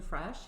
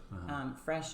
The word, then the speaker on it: Fresche: And it's spelled differently than what you would hear it as Fresh, because that right?